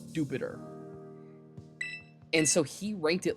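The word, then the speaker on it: Dewpider: It's pronounced the official pronunciation is Jupiter.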